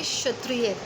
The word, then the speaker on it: क्षत्रिय: जैसे ये आपका, ये है श से क्षत्रिय, तो क और श मिलके क्ष बनता है। इसमें क थोड़ा सा साइलेंट होता है।